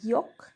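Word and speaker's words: 기역: তো দেখো, প্রথমে আছে এই অক্ষরটাকে বলে গিয়ক। এটা অ্যাকচুয়ালি গয়ের মতো উচ্চারণ হয় বা ক্ষয়ের মতো উচ্চারণ হয়।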